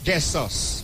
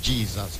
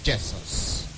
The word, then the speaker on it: Jesus: Jessus beg your pardon. Let her pronounce our English narrative as it is Jess. But we all say Jesus but is Jessus.